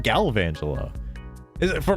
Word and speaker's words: Galvantula: Also, um, I always said Garangela. On further inspection, there is no R in the name. I I thought it was garangela. Why is it galvangela?